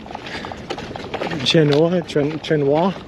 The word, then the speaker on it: Chenoa: It's pronounced like quinoa. Chenoa.